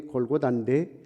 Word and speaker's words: 골고다: 흉악범들을 죽이는 그 십자가에, 그 십자가에는 끌고 가서 이제 갈보리라고 하는 라틴어적인 발음이 갈보리고 히브리 발음이 골고다인데 해골이라고 하는 언덕입니다.